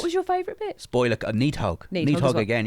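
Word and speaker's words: Nidhogg: Spoiler, Needhog. Needhog as Needhog well. again, yeah. Or Neathog, as they Neathog, pronounce it in the yeah.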